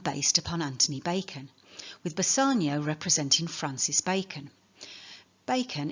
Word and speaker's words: Bassanio: upon Anthony Bacon, with Bassanio representing Francis Bacon. Bacon, in Italian, a single C is pronounced S, and it will be